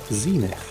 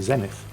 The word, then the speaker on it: Zenith: Because the thing is, in English, if you've got a vowel and a consonant followed by another vowel, then the first vowel is usually pronounced as a long vowel. So E instead of F. So Far Zenith, which means that the American, and I think it's the American way of pronouncing it, should be correct. And yet here in Britain we say Zenith.